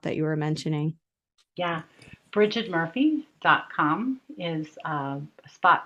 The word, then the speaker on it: Brighid: workshop under the upcoming events and then I'm Bridget Murphy healing on most of the platforms and my first name is spelled b r i g h ID yeah